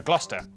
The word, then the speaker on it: Gloucester: Cester is pronounced stir. Leicester, Worcester, Gloucester.